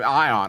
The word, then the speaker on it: Ion: has a similar name it spelled the same but it's pronouncing it so ion eye on the icon makes sense